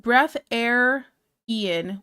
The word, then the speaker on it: Breatharian: It's pronounced breath air Ian, which is a real thing people believe.